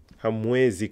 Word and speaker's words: hamwezi: Hamwezi kuona. Some students get confused with pronouncing the MW here. Hamwezi. Hamwe. Hamwezi kuona. Some people say hamwezi kuona, but hamwezi kuona is still perfectly correct.